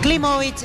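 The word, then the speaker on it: Klimowicz: Está bien pronunciado el apellido, Víctor. Klimovic, exactamente, como si fuera con B corta.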